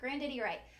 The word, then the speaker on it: Grandidierite: Grandidierite.